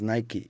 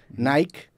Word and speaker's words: Nike: que sean del inglés sería pronunciar Nike como Spike pero por sus huevos Se lo cambiaron a Nike y yo no estoy